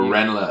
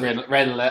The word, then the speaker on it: Ranelagh: you went to Redmond's in Ranelagh and Or Renla, as us locals say. Ranelagh, as Emmet who lives there would say.